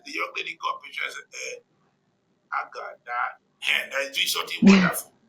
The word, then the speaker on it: Agada: You tell people and then the young lady come pictures Agada. And they're doing something wonderful. Okay, Agada. Agada. It's Agada.